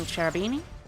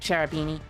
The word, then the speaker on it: Cherubini: two are they making charabini yep yep yeah i like cherubini i like pronouncing it charabini by the way as well because you think of it as a cherub that's also a beanie i mean you could